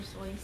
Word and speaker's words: Seuss: was who knew but now we say dr. Seuss and it just stopped I think it sounds better don't you think dr. Seuss won't be caught I wouldn't want to be called dr. soon I would love to call dr. Seuss for not dr. soy's that sounds weird right it didn't even look like that but people just kept saying it wrong hey Lindsay alright so